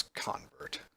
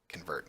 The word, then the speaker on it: convert: So let's look for, I guess, convert. I guess it'd actually be convert, not convert. Don't know why I put so much emphasis on the wrong syllable.